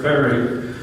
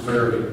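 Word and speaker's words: Fayre: That's why I say F-A-Y-R-E was probably pronounced fairy back in those days in England.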